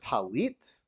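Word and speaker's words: tallit: are receiving your first talit because you'll be you are now obligated to wear a talus or talit same thing just different pronunciation uh putting to fill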